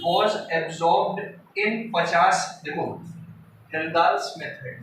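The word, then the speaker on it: Kjeldahl: इसको आप जेलदाल्स बोलो, हेल्दाल्स बोलो, के साइलेंट है, तुलसीदास चलो चलिए को हेल्दाल्स मेथड, ठीक है।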